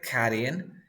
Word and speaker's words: cutting: So you say cutting, running, stopping. Stop. Yes, the rules, you drop the first sound, T between two vowel sounds, you pronounce like R.